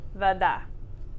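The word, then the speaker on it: вода: Vada. Stress on the second syllable.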